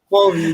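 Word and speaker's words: Huobi: I can never pronounce the name. Hubi, or Hubi. Hobie, exactly.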